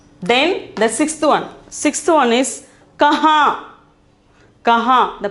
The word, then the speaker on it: कहाँ: Then the sixth one is kahan. Kahan. The pronunciation is kahan.